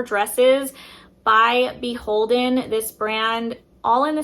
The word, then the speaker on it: BHLDN: by the brand BHLDN, which I think is actually pronounced Beholden. I think that's the proper way to say the brand.